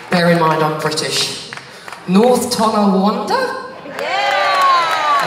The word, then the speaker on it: North Tonawanda: North Tonawanda? Yeah! North Tonawanda. Woo-hoo. I kept saying Wakanda for ages, and I realised that's that Black Panther film.